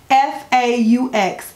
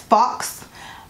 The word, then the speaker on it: faux: If I heard one more person pronounce the word F-A-U-X as fox, I'm gonna go crazy. I'm going to go nuts. F-A-U-X is faux.